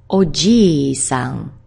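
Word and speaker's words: おじいさん: Next we have granddad, someone else's granddad, honorific form, oji-san, oji-san. He loves to eat, he doesn't share the drinking problem of his wife, but he says, gee, where's the food?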